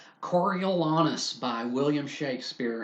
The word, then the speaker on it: Coriolanus: Coriolanus by William Shakespeare, and no, it is not Coriolanus. I am hesitant to pronounce anyone's name with the word anus in it.